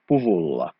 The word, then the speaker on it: puvulla: So the K becomes something else. So this time it is not silent or it has not disappeared. It becomes a V. puvulla.